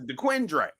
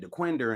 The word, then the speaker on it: DeQuindre: I don't know, but this is how it's pronounced. It's DeQuindre. But when you talk to somebody from that area, because we was going on, they said, no, you're going to get off at DeQuinder and then go up.